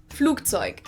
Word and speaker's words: Flugzeug: Now, the first word he pronounced Flugzeug, while a normal German would probably usually pronounce it more like Flugzeug.